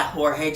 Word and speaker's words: Jorge: I used to say George Jimenez, but then the whole Batman Batman Joker War panel, I found out you pronounce it Jorge, but still, Jorge does a great job here.